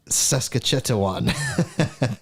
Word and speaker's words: Saskatchewan: Saskatchewan.